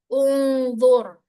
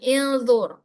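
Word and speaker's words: انظر: Nah, di sini karena d ini berharakat domah, maka dia dibaca hamzah wasal yang depan ini dibaca domah unzur ya, bukan indur bukan juga.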